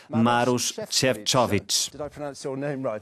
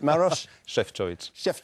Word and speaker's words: Maroš Šefčovič: Para responder às perguntas, o Comissário Europeu para as Relações Interinstitucionais e Administração, Maroš Šefčovič. Perfect. Very good pronunciation. You said Maroš Šefčovič.